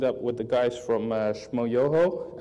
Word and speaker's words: Shmoyoho: She teamed up with the guys from Shmoyoho, accent on the yo, and wrote a little song for, especially for Nicholas, so I'll show that now.